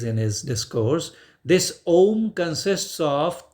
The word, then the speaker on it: Om: So Maharshi Mehi says in his discourse, this Om consists of 3 syllables in Hindi or Bharati or Sanskrit. We write it is a combination of A, U and Ma. A, U, Ma. Combined together, it reads Om.